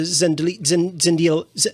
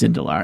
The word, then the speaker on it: Zendil: Zendil, how is it pronounced again? I forget. I'm sorry. It's pronounced Indalar, and those were liters of eggnog.